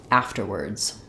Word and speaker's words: afterwards: a light T after and then we have the words another R sound there and again our s says a z so thinking about it like after words afterwards um we had a